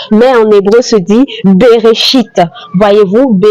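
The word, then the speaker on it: בראשית: Le premier mot de la Bible se dit en français au commencement, mais en hébreu se dit berchite. Voyez-vous ? Beréchite. Et voilà comment ça s'écrit beréchite.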